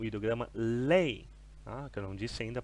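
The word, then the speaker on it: 泪: que usam o hidrograma lei A Carol disse ainda pronúncia dele me desculpe vamos pronunciar algumas vezes então para redimir lei lei no quarto Tom lei é a primeira palavra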